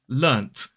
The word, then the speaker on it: learnt: And that's why in British English, people will quite commonly pronounce this word as learnt with the T sound, because they're actually saying this word that is written with a T.